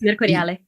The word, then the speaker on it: Mercuriale: Now, I don't want to butcher this guy's name, but I think you pronounce it Mercuriali, is it? Mercuriali? Yes, Mercuriale.